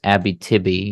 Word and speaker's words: Abitibi: it a bit but it's Abby Tibi yeah you're pronouncing it right gotta get used to